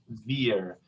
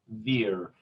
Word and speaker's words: wir: how to pronounce this wir. Careful here that the biggest problem that American speakers have a lot of time is that they want to retroflex the tongue and go wir.